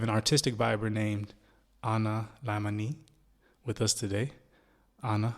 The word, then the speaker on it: Laimanee: All right, now I know we went through this before, but it's Laimanee. Yeah. Laimanee, okay. So Like, that's the Thai pronunciation, yeah.